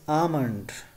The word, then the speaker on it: almond: The next pronunciation is almond. Almond. Badam ko almond kehte hain. Almond nahi kehna, right? Almond nahi balki almond.